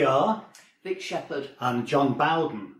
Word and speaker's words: Bowden: We are Vic Shepherd and John Bowden. Notice the pronunciation, not John Bowden.